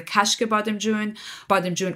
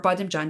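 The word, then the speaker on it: kashk-e bademjan: of eggplant appetizers there's the kashka bottom June or badam John depending on how you say it and kind of what dialect that you're speaking in but yeah the kashka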